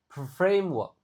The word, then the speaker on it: framework: frame a-nya dibaca e frame dibaca e e i aim framework.